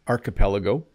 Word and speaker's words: archipelago: An archipelago. Now, I used to pronounce this wrong. Even English speakers sometimes say words wrong, but it's archipelago.